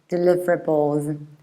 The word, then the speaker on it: deliverable: and these are deliverables you stress the second syllable like deliver delivery deliverable and then if you want to be very proper you can say deliverable with these extra little schwas deliverable deliverables the thing is that in